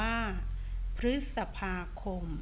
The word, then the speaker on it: พฤษภาคม: เพิ่ม เติม เอ่อ อ่ะ คำ ว่า พฤษภาคม พฤษภาคม ก็ อ่าน ว่า คะ พลีส สัก พา คม 4 พฤษภาคม อ่าน ว่า พฤษภาคม โน้ ท ท่า ฤาษี อ่อน